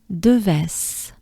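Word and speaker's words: Devès: De again, E, very important sound in French. Letter E. De, e, forward. Move your jaws, your mouth forward. De, ves. De ves. Let's try it together. De ves. Right?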